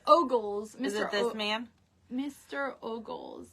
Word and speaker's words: Ogles: say oo or something ooly ooly booly it's ogles Mr this man Mr ogles calls on President yeah yeah whatever Mr ogles okay hold on okay so what was I